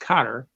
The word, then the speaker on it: Qatar: So I go in, I find out she can speak pretty good, but she wanted to mail some key back to Qatar, actually pronounced Qatar, but I had to go through some bureaucracy.